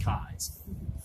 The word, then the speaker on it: Keyes: last name looks like Keys, but it is pronounced Keyes.